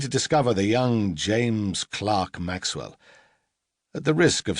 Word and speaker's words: Clerk: Maxwell's father was originally called John Clark, pronounced to rhyme with Park.